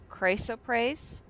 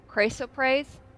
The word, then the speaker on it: chrysoprase: chrysoprase gemstones worth For me? chrysoprase, CHRYSOPRASE. I had to look up how to pronounce those.